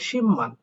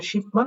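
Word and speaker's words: 십만: ক্ষেত্রেও বিউটা ম হবে হবে তার মানে এখানে উচ্চারণটা হবে শিম্পমান অনেকে করবেন শিপমান বাট এটার সঠিক উচ্চারণ হবে শিম্পমান তা দেখেন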